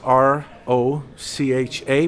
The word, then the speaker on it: Rocha: It spells R-O-C-H-A, but it's pronounced Rocha. And like Russia with an H, Rocha.